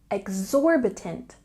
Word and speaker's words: exorbitant: very expensive say exorbitant we have a stress here on the second syllable exorbitant exor exorbitant this is